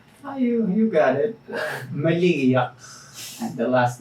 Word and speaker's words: Maligiaq: melody buddy eh Patera and excuse can we let yourself pronounce your name I'm sure I'm pronouncing all wrong you you got it Malia and the last name is actually this idea